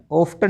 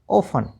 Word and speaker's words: often: पर टी का उच्चारण नहीं करना है, टी साइलेंट रखना है। तो HSTEN हैसन, LISTEN लिस्टन नहीं लिशन, OFTEN ऑफ्टन नहीं ऑफन, SOFTEN सॉफ्टन नहीं शॉफन, FASTEN फासन फास्टर नहीं।